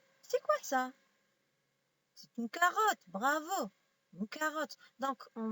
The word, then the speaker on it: carotte: donc on dit K, on dit pas sarotte, on dit carotte.